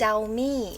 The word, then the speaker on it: Xiaomi: It's Xiaomi.